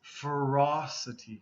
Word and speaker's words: ferocity: is ferocious this is ferocity ferocity okay ferous ferocity okay so kind of slight change in vowel sound okay ferocious ferocity okay